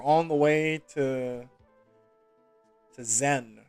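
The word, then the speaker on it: Tzen: the way to to zen the t is silent it's probably silent tazen no okay made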